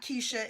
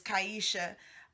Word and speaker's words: Kyesha: I'm not a pronounce her name is not Keisha is kyesha she is on there